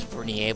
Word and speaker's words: vernier: I think it's vernier, but it's spelled V-E-R-N-I-E-R.